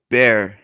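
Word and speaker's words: Bexar: go in person what san antonio county is called bear and it's spelled b-e-x-a-r jesus christ why um all right bear county i would just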